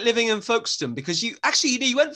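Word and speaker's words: Folkestone: gone to folk folkston i wasn't saying folk stone i'm not sure how you pronounce it it's foxton and our special guest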